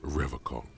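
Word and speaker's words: Revachol: He pronounces Revocol with a hard K.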